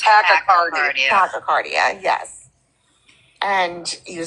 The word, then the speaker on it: tachycardia: test because you have tachycardia, or however it's pronounced, but your heart beats faster. It's tachycardia.